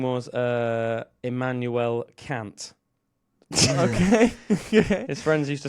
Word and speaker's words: Kant: Right, Ofcom, you can't say anything because his last name's Kant. I'm just saying Kant, all right? So his name's K-A-N-T, which is exactly how I pronounce that.